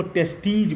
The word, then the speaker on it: testes: उच्चारण करने में जब सिंगुलर होगा तो उसको टेस्टिस बोलेंगे और जब प्लूरल होगा TESTES तो इसको टेस्टीज बोलेंगे।